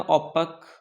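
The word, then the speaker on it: opaque: ओपेक। ओपेक। ठीक है? ओपेक पढ़ना। थोड़ा प्रोनाउंसिएशन भी आपका सही होना चाहिए।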